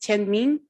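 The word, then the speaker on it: 天命: As for Tian Mi, the characters at the bottom it's pronounced Tian Ming, and it's the mandate of heaven.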